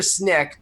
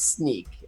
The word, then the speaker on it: Snyk: well uh SNY YK so it's it's either sneak or Snick but it it's sneak um it's just our